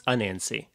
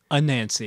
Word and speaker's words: Anansi: Is Nancy a spider or is Nancy... It's Anansi. Anansi. Anansi or Anansi, yeah, depending on how you say it.